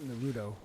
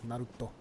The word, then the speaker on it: Naruto: I think one of the few things that I've memorized from watching Naruto is, it's not Naruto. Naruto is like the American pronunciation. It's Naruto.